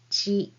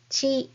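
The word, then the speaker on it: ち: When you say this hiragana, you say e. Start by making the sound of e with your mouth and then say chi. So let's go. Chi, chi, chi. Yeah, just like chi in cheese.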